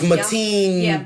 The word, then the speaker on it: Mateen: Oh, I might be saying his name wrong. It's Mateen.